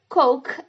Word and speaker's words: Coke: Se você não está pronunciando Coke, é muito provável que você esteja pedindo por um pênis.